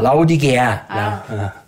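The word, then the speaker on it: 라오디게아: 라우디게아. 이 개를 빼먹었네. 라우디 멍멍개가 아니라 어이개. 근데 사실 이게 영어 발음이라 뭐 정확한 중요하진 않고 어쨌든 외워도 라우디게아 교회.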